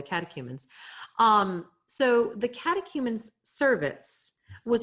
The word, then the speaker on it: catechumens: Moving on from there, these are the remnants of the catechumens. I'm sorry, that was not pronounced well. The catechumens.